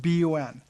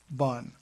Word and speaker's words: BUN: nitrate blood urea nitrogen but we pronounce it b-o-n not bun I think I said bun is what you put around a burger or hot dog creatinine or creat c-r-e-a-t